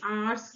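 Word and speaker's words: hour: 26 प आ ड आर्स rest घंटे का रेस्ट ठीक है आर तो आप कैसे प्रोनाउंस करते हैं आर एच जो होता है वो साइलेंट हो जाता है एच तो हमारा साइलेंट हो गया आर आप बोलते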